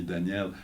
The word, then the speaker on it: Daniel: Okay, so because when you say Danielle, to them it sounds like a girl.